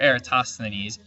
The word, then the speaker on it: Eratosthenes: ideas this guy erastastinis tough word to say era and ease it's uh sth that's the hard syllable right there eratosthenes uh he calculated the